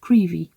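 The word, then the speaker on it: Crovie: to a tiny 18th century fishing Village called creevy so it's spelled krovi but you pronounce it creepy the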